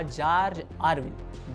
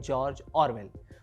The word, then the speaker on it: George Orwell: Title था in search of अ जॉर्ज आरविल। जॉर्ज आरविल Motihari के एक बुजुर्ग का उच्चारण था जिसे इयान जैक ने छाप दिया था। असल में उस लेखक का नाम है जॉर्ज ऑरवेल।